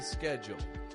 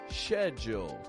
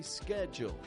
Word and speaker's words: schedule: The American accent pronounces this S-C-H-E like scare, making a k sound.